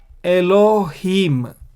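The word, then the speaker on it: אֱלֹהִים: it's pronounced ma and so how do we pronounce this word elohim elohim so then the whole sentence becomes bereshit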